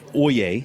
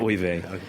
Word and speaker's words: ouillé: Ouille. Pronounce that? Ouille. But the translation, oye, not oive.